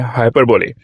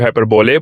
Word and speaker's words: hyperbole: कुछ लोग हाइपरबोल पढ़ जाते हैं, कुछ लोग हाइपरबोले पढ़ जाते हैं। इसकी जो सही प्रोनाउंसिएशन है हाइपरबोले, ठीक है, हाइपरबोले, ठीक है।